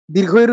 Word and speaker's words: দীর্ঘ ই: আমরা হ্রস্ব ই বলি না, দীর্ঘ ই বলি না। বলি কি? রস্যি দীর্ঘি। রস্যি দীর্ঘি বলতে কিছু হয় না। কি হয়? হ্রস্ব ই, দীর্ঘ ই।